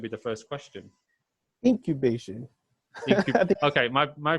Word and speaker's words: Incubation: So how do you become a drummer for Cerebral Implication? That's going to be the first question. Incubation. Okay, my pronunciation is not I think you fantastic.